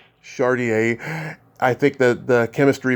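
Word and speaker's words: Chardiet: I love the chemistry between you and John, how you pronounce his last name, Chardiot? Chardier.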